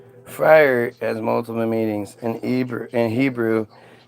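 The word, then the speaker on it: Freier: It's It's more like like fry or like the emphasis is hard on the eye.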